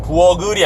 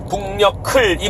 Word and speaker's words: 북녘을: 어쨌든 뭐 이런 것도 원래 한국 발음은 북녘을 날아간다가 맞습니다. 북녘을이라는 발음을 명확하게 해야 되는데요. 아무도 그렇게 하는 사람 못 봤어요. 북녘을 날아간다 다 그래요. 부엌을이 맞아요. 부엌을이 아니고 북녘을이 맞습니다.